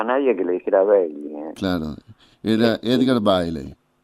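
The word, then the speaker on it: Bayley: o dos sonidos, Edgar Bailey o Edgar Bailey. ¿Cómo se lo mencionaba él? Baile. Bailey, claro, Nadie lo... No, bueno, sí, lo correcto en inglés sería Bailey, claro, Bailey, pero no escuchaba a nadie que le dijera Bailey.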